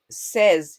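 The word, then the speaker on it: says: exception बोलते हैं तो ए वाई साउंड में भी एक्सेप्शन आते हैं जैसे के सेज यह जो मैंने आपको एक एग्जांपल दिया हुआ है सेज में है ना जो ए वाइस स्पेलिंग में आता है बट उसकी प्रोनंसिएशन शॉर्ट ई जैसी होती है जैसे कि ए एग वाला ए और अगर आप सिर्फ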